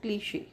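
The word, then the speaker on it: cliché: लेकिन इसका abstract sound क्या है वह है क्लिश तो यह जो स्टडी है इसको फोनोलॉजिकल फोनोलॉजी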